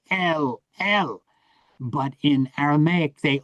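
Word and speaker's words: אל: El.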